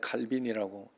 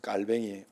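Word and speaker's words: Calvin: 옛날에 칼빈이라고 이야기했죠. 깔뱅이에요, 깔뱅. 원 발음.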